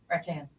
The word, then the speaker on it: rattan: Ratan. Rat Tan. I just like saying it that way. Rattan. It's not even that. It's not that either. That's Ratan. Rattan. Rattan. Yeah, that's how you say it.